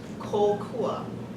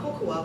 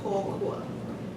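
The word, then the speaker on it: kōkua: is called kahako, and it's a line that goes above a vowel, and that elongates the vowel. So this word, you would say kokua, not kokua, but kokua.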